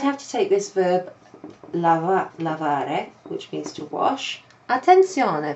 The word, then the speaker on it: lavare: I'd have to take this verb lavare, which means to wash. Attenzione, perché lavorare non vuol dire to wash. Lavorare vuol dire to work. Okay, that's something often, students get mixed up. Lavare with three syllables.